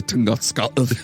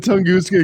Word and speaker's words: Tunguska: I caused the Tunguska because it's a big one.